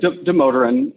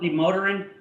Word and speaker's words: Damodaran: Did I pronounce that right? Demoteran. I think in like a native pronunciation is a little different, but yeah, people say Dr. Demoteran usually.